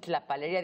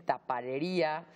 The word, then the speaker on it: tlapalería: No pueden decir tlapalería, dicen taparería, no dicen taxi, dicen taxi.